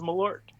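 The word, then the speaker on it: Malört: You are pronouncing it correctly. Jeppson's Milord.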